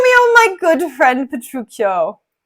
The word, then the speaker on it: Petruccio: a CH sound so if it was p-e-t-r-u-c-i-o it would be petruccio if you have c-h-i-o it is petruccio but here hortensio says petruccio with p-e-t-r-u-c-c-i-o which means that it's actually petruccio but they spell it differently I think probably so that English readers and English speakers are able to understand that it's a CH sound okay so welcome to